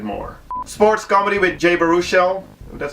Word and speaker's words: Baruchel: Sports comedy with Jay Baruchel. That's how you pronounce his name.